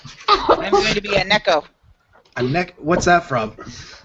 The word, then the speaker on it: Neko: and it is pronounced Neko, It's not it's a Nico. popular. It's a popular thing in anime where they were Mhm. just. Neko, not I can spell Nico.